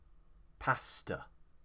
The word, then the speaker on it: pasta: We don't pronounce it like pasta, or however the Italians pronounce it. We will actually schwa the last sound here, because the stress is on pass, so the second syllable, t, t. pasta.